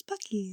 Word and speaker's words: Buc-ee's: It's Buc-ee's.